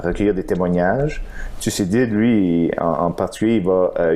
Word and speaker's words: Thucydide: je sais pas mal prononcer son nom, c'est quoi, Thucydide? Thucydide, ouais.